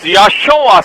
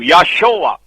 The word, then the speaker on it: Joshua: The right pronunciation is Yahshua, same as Christ's name, Yahshua.